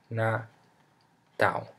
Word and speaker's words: natal: end of a word this L sounds like uh o you know like in me me o or or Nat na to like we if we had a u here in the end so me not and